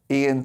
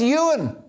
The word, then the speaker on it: Ewan: for watching the show I hope I pronounced your name right by the way oh no it's Ewan God I'll never live